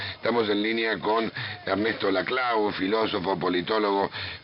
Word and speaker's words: Laclau: Sí, mi nombre es Laclau, no Laclau, pero... Laclau, Sí. se escribe Laclau y se pronuncia Laclau.